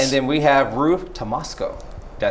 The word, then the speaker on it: Tomasko: And then we have Ruth Tomasko.